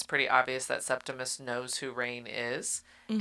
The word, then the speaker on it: Septimus: Did I say it right? Septimus? No, Septimus.